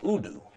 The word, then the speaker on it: udu: And it's pronounced udu.